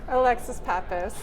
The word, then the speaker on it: Alexis Pappas: Please spell your name for me or pronounce it better than I just did. Alexis Pappas.